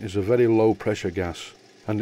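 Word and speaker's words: Gaz: For firing my steam plants, I normally would use a camping gas cylinder, and that's not a mispronunciation, it's spelled G-A-Z.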